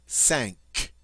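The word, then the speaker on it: cinq: then the French word for five sank and here you see in the word sank a q that is not followed by a u but it's always going to have that hard C sound that C Sound all right what about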